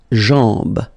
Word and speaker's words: jambe: Okay, remember, A-M, when you combine these two, basically it's just like A-N, so it's nasal and it's en. Okay, so you get la jambe.